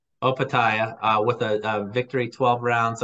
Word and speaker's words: Opetaia: And then Jai, how do you pronounce his last name? Opetaia.